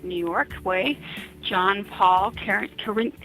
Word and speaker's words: Carinci: York way John Paul Ken Kar I can't pronounce your name John you got to pronounce it for me currency currency thank you can I